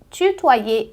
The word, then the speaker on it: tutoyer: O Y em francês, na maioria das vezes, ele é pronunciado como um I. Guarda em mente que em palavras onde ele vem depois do A ou do O, você considera como se fosse um duplo I, tá?